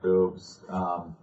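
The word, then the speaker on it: Bubs: And I was going to say boobs. It's B-U-B-S, but they pronounce it boobs.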